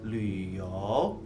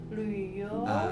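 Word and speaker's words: 旅游: Mandarin traveling itu bacanya Luyo. Ya. Luyo.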